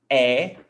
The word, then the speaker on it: é: Você é. And attention. É. If you see this, it's pronounced E. This is é. This is E.